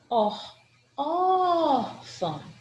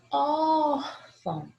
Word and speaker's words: órfão: A minha sílaba tônica é órfão, órfão. O acento agudo marca a sílaba tônica. O tio em cima desse azinho que tem aqui é só a marcação de um som nasal.